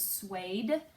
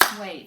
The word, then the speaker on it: suede: word the word is suede okay the word is suede one syllable let's tap it out well hey as in play - okay we're using